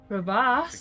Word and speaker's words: crevasse: But Crevasse? The That's the crevice.